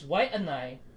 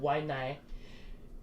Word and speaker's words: Waianae: Okay, and it's Waianae, Nai, not Waianae.